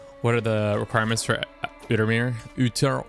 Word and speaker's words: Outremer: What are the requirements for Outremer? Outremer? Yeah. I don't think it's pronounced French-like.